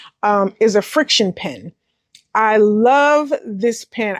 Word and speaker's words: FriXion: say it's essential, but it's not, is a friction pen. I love this pen. Actually, I was pronouncing it as Frixion because someone else pronounced it as Frixion.